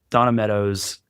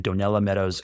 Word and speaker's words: Donella Meadows: Donna Meadows, I always mispronounce her name. Donella Meadows.